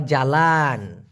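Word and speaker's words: jalan: Malaysian ভাষায় বলা হয় জ্বালান কি বলা হয় জ্বালান এটা তো আলাদা করে মুখস্ত করার দরকার নাই কারণ আমরা বলি ভাই রস জ্বালান তরকারি একটু জ্বালায় দেন সেই একই রকম উচ্চারণ জ্বালান তবে মালয়েশিয়াতে এই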